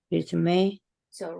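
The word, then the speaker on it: résumé: 다음에 뭐라고 써 있습니까 레주메죠 레주 메라고 읽어야 되겠죠 레주 메이는 무슨 메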